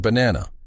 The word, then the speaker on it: banana: For example, in the word banana, the stress is on the second syllable, ba-na-na. You say that middle part a little louder and longer than the others.